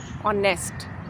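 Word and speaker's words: honest: वैसे ही ऑनेस्ट, H, ऑनेस्ट नहीं लिखना है, ऑनेस्ट प्रोनाउंसिएशन करके देखिए। ऑनेस्ट, आ से आम वाला, तो उससे पहले आर्टिकल एन लगाना है।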